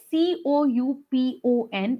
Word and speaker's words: coupon: us one point here the word c-o-u-p-o-n is pronounced as coupon but yet some of us you know pronounce it as scoop in um please check the phonetic sound at the end it's ending with the on so please make sure